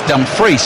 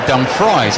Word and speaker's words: Dumfries: and he said though the one people always get wrong is he's dumbfreeze because they call him dumb fries and i said well